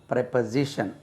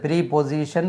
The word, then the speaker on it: preposition: Stress lies on ஜெட். அது ப்ரீபொசிஷன் என்று உச்சரிக்கக்கூடாது. ப்ரெப்பசிஷன் ப்ரெப்பசிஷன் ப்ரெப்பசிஷன் ப்ரெப்பசிஷன் ப்ரெப்பசிஷன் ப்ரெப்பசிஷன் என்று உச்சரிக்க வேண்டும்.